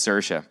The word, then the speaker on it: Saoirse: fast one on America Saoirse Ronan right yes sir chef close very very close all these Irishmen names